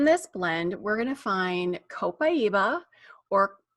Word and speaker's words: copaiba: plants so in this blend we're gonna find copaiba or co Paiva as some people pronounce it which is a tree and that